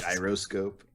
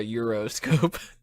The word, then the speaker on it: gyroscope: Gyroscope. Yeah, it's not a Euroscope.